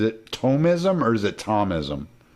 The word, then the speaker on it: Thomism: yeah no for sure but how do you pronounce it is it tomism or is it thomasim tomism tomism okay some people say atomism but it's it's